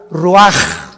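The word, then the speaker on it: רוח: y exhaló Isaac el Roach así como suena se pronuncia la c en hebreo como J raj se le salió y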